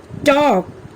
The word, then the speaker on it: talk: থাকে শব্দবিলাক হ'ল কাম here L is silent palm half walk talk should good what have you seen in these words here also L remains silent calf chalk fork almond